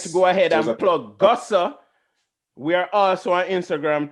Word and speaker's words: Guhso: it's the gossip spell sir gossa is spelled g-u-h-s-o gossa so everybody comes by